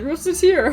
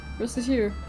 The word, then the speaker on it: Recettear: Recettear, huh? Recettear. Mispronounced it even slightly, and... so, I had to look this up. She's actually referencing racketeering?